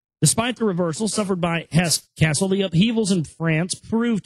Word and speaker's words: Hesse-Kassel: So it's not castle as in like a royal castle. It's Hesse Castle with a K, K-A-S-S-E-L.